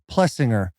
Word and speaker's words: Plessinger: my right is Aaron plessinger I asked him that's how you pronounce it he says my grandmother says it like that so you can say like that so if Grandma's okay with it I'm okay with it